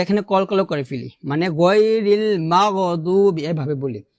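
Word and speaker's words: غير المغضوب: তো আমরা এখানে কলকলা করে ফেলি, মানে গায়রিল মাগদুবি এভাবে বলি, মাগো বলা যাবে না, বলতে হবে মাগ। মিম গয়ন জবর মাগ মাগ মাগ, গ উচ্চারণটা আসবে না, মাগ এভাবে।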